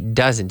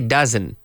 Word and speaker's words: doesn't: no he doesn't and you need to pronounce that T doesn't you can say dozen dozen soy sauce una